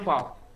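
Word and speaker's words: וו: Nah ini bacanya vau.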